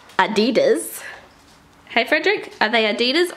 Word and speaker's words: Adidas: They are Adidas sneakers, or as the Americans say, Adidas.